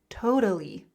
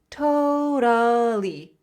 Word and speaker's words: totally: Totally. Totally. Totally. Again, that flap T, that R sound. Totally.